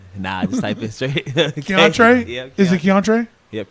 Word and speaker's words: Keontray: My name is Keontre. It's also my government. That's spelled KEONTRAY.